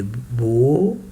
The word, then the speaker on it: beau: Il fait beau. Here is O, B, and the last three letters, I say it like letter O.